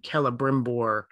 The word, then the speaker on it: Celebrimbor: So, for example, in Tolkien speak, if you start a name with a letter C, it's always a hard C. So like the name Celebrimbor is a C-E-L-E.